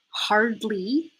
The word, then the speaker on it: hardly: that I've made, and the R sound in hardly is R, just like the letter R. So instead of saying the full word with both syllables, let's just say the first syllable first. Hard. Okay, so if you have the R in hard, now let's work on two syllables.